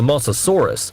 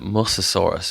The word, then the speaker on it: Mosasaurus: of them was the mosasaurus which lived once again you have completely butchered the pronunciation you've just called it mososaurus which is an early